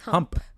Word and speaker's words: hump: Happy hump day. It's true. We do drop this episode on the hump day every week. No, it's not hum day. It's hump. I know. With a p.